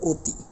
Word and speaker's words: অতি: সাথে একটা রসিককার রয়েছে তাহলে এর উচ্চারণের ক্ষেত্রে আমাদের বলতে হবে অতি অর্থাৎ এটাকে অতি বলতে পারবো না আমাদের বলতে হবে অতি ও উচ্চারণ করতে হবে একই রকম ভাবে অভিধান